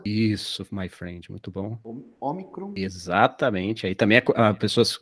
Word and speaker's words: ômicron: O ômicron é uma vogal breve. Então, geralmente ela vai ser pronunciada de forma aberta, parecida com sol, por exemplo, sabe? Alguma coisa assim, como se tivesse um leve acento agudo na letra.